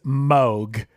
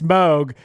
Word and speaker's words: Moog: Hey, real quick, Chris, by the way, it is Moog. It's not Moog, it's Moog. I went on their website and they said it's Moog that rhymes with Vogue.